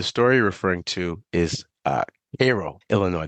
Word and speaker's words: Cairo: So the story you're referring to is Cairo, Illinois. That's how you pronounce it, Cairo, Illinois.